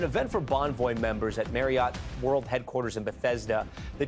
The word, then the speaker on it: Marriott: It's the same way with Marriott. It is not Elliot. Marriott. It is Elliot. Marriott. And so the correct way to say it is actually Marriott. Okay. I don't know if you could hear it there, but it's Marriott like Elliot.